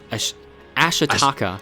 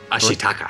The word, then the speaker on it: Ashitaka: a story of a young iishi Warrior named ashaka ashitaka ashitaka I always get her name wrong uh his name wrong and in his